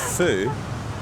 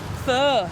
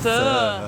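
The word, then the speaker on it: phở: I'm so full of foo. Can you explain why? What foo is? Fur. It's actually pronounced fur. Fur. You got to say it with a northern accent.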